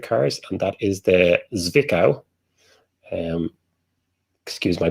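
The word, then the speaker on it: Zwickau: the id electric cars and that is the zvikau um excuse my pronunciation zvikao zed w-i-c-k-a-e and we weren't taking away points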